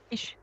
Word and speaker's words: ich: When it is only coming as CH, then it shouldn't be ick, the ka sound. No, it's not ich, it's ish. Actually, what German people does,